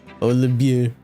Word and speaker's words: Olivier: He said Olivier would be pronounced as V as a B. Oh my god. Olivier.